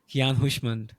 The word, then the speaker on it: Keyan Houshmand: Time signatures so today with us we have Kian hushand from Australia welcome to the podcast Keon thank